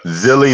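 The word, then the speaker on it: Zhilei: How do you pronounce his first name? Zhang. Just Zhang. No, he's got a Zilly Zhang.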